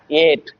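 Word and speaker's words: ate: But when you join together you have to pronounce it eight. Where is E? E is silent there.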